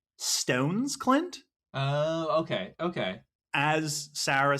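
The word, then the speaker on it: Stevns Klint: In Denmark, I am told by Sarah on Patreon, thank you, Sarah, that it is pronounced more like Stones Clint.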